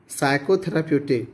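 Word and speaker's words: psychotherapeutic: They are also called साइकोथेराप्यूटिक, पी यहाँ पर silent है, साइकोथेराप्यूटिक ड्रग्स।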